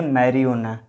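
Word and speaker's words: marijuana: एक देखिए मैरी ओना, यहाँ पर जे का साइलेंट नहीं हो जाता, जे का उच्चारण नहीं किया जाता, इसको बोलेंगे मैरियोना। उसी तरह देखिए हालोपिनो, ये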